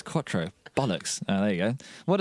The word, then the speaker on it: quattro: I didn't know how you say it it's quattro.